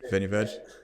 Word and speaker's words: Vinho Verde: I think Vinho Verde. Do I pronounce that properly? Vinho Verde. Yeah. Vinho Verde.